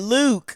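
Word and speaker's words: lewk: before come on serious I said Luke it's spelled l-e-w-k and you gotta put the emphasis it's the emphasis oh okay all right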